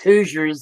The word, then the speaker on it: Hoosier: know all about Oklahoma Hoosiers the way it's supposed to be pronounced who's her who's your whatever you want to call it h o o s i e r yes who is Hoosier no it's not good